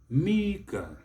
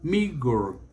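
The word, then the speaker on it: meagre: again not modifying our the next one is mega mega the british will spell it m-e-a-g-r-e mega the americans will spell it m-e-a-g-e-r and say miguel miguel they will bring out that r at the end they will try to bring it yes so mega and miguel the next one is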